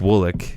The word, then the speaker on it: Woolwich: my friend in college eric woolick which it's it's spelled eric woolwich uh he used to